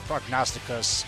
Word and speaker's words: Prognosticus: I say it by the nominative case. So yeah, I usually just pronounce it as the Dark Prognosticus, you know, like spelled with the US rather than AS.